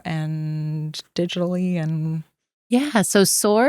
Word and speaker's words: Saor: Yeah, so SOAR is spelled SAOR. Yes. So SOAR, that's the Gaelic term. The translation is really to be free. And so we took the spelling of the Gaelic, we're not pronouncing it right.